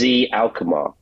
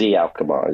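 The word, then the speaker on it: Alkmaar: So we went to PSB right after that and then finished up at uh AZ Alchemar, not AZ, AZ Alkar is how you pronounce it.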